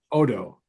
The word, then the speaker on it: Odo: Otto is gonna lose his substance. Can we at least pronounce it right though? I don't know. What is his name? Odo. Odo.